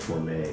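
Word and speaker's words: Formay: you know his name he called himself for me f-o-r-m-a-y he pronounced it for me but foreign this is for me he's been training with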